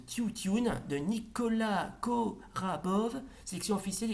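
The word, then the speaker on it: Тютюн: Ensuite, Le tabac, en bulgare traditionnel, ça se prononce Tiutune de Nicolas Korabov, sélection officielle et compétition au Festival de Cannes 1963.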